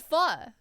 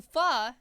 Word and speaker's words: pho: Just delicious pho. Yeah, it's pronounced F-U-H. It's because it's Vietnamese. It's not English.